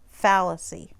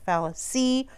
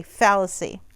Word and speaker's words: fallacy: this pronunciation up top you see this little tick right here that's telling you that you emphasize the first syllable fallacy you don't say fallacy or foul-ups II say fallacy the syllabication that's just